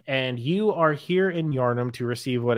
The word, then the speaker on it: Yharnam: How do you pronounce it? How do you spell that? Yharnam. Yharnam. It's like Putnam. Yeah, Putnam. Yeah, exactly.